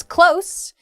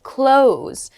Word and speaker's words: close: Next is close, meaning to be near, and the other pronunciation is close, meaning to shut, or it can also mean to end.